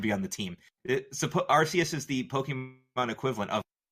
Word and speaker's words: Arceus: game alright here we go first one is Arceus Arceus yeah the God of all pokemons well yeah of course our seats would be on the team suppose Arceus is the Pokemon equivalent of ok why do